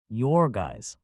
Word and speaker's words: Jurgis: married, and married to Jorgis asterisk, pronounced Yorgais, of all men, to